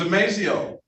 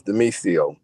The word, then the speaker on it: Demisio: I thought it was DeMazio. It's Demisio.